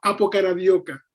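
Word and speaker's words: apokaradokia: como anhelo ardiente, es una palabra que se pronuncia como apocaradioca.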